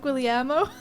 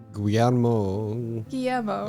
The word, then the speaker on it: Guillermo: Not Guillermo. Guillermo.